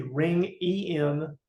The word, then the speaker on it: Ringenbach: How do you spell it? Ring, R-I-N-G, Ring, E-N-B-A-C-H, Ringenbach.